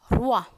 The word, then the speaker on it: roi: Every time you see this combination O, E, it is pronounced as wa. You might have heard trois, number 3, trois. Moi, roi.